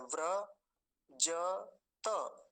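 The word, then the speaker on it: व्रजत: देता हूं वजत और य हलंत है रेफ पूरा है इसलिए व्र बनता है व्र ज त व्र जत ऐसा बोलेंगे त अगला शब्द देखिए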